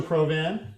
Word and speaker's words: Provan: it's always nice to make new friends Rachel provan great day pronounce it correct because they just did you